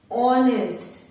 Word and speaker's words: honest: Here H is silent. इन तीनों शब्दों में H जो है वो साइलेंट है. बोलने में ध्वनि जो आ रही है वो O की आ रही है. R, honest, hair.